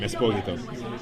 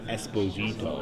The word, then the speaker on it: Esposito: That's how you pronounce my name, Esposito. But everyone in America says Esposito. Yeah, that's what I would say. Yeah, we break it down. It's okay, though. Do you like Esposito or Esposito? I like Esposito, because that's really the way it's pronounced.